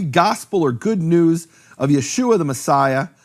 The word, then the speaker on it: Yeshua: of nun meaning there's no question from any serious scholarship about how to pronounce that name Yeshua no question whatsoever it's and this is